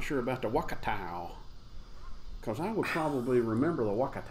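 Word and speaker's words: Wakatu: Simcoe and Wakatow.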